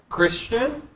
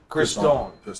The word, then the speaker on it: Christon: Christian? Christon.